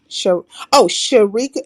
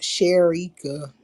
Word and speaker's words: Sherika: She likes it pronounced Sherika. Sharika. Sharika. Sharika. Sharika. Like Eureka, but Sharika. That's how I remember it. Eureka, Sharika, like that.